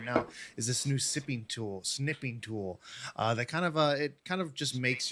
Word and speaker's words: Snipping Tool: Snipping tool. See, I kind of feel like pronouncing it sniping tool. That's not exactly correct, so I need to be a little bit careful.